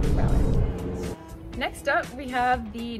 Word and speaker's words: ghrelin: And so to remember ghrelin, we think about the stomach growling sounds, which are very similar to the pronunciation of the word ghrelin.